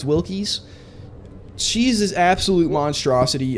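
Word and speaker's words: Wilkes: Annie Wilkies or Annne Wilks. I think that's how you pronounce her name. It could be Wilz, but I'm pretty sure it's Wilks.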